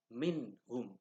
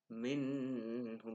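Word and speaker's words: مِنْهُمْ: contohnya nun sukun bertemu dengan Ha minhyun ini minhum seperti itu bacanya tidak boleh dibaca minum itu salah itu itu namanya bertemu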